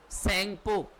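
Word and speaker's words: Tsangpo: where it known एस सपो where it known एज सपो इसको spelling ना है तो यहां से लिख लेना टी साइलेंट होता है वेर इट नोन एस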